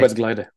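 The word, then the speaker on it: arbeidsglede: it's really difficult for me to pronounce this, but it's Arbeidsglider, right? Okay. Arbeidsglider, yes, love that.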